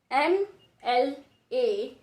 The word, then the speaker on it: MLA: MLA is also written with an. How is it so? Because the sound is of a. Speak a, MLA.